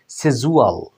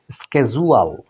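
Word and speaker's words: schedule: এরপরে 2 নম্বরে দেখুন বন্ধুরা, এই শব্দটা আমরা এটা জানি শেডিউল, শেডিউল, তাই না? এভাবে শিখে থাকি, কিন্তু ব্রিটিশে এভাবে উচ্চারণ করা হয় সেজুয়াল, সেজুয়াল। আর আমেরিকান ইংলিশে সেটার উচ্চারণ হয় বন্ধুরা স্কেজুয়াল, স্কেজুয়াল।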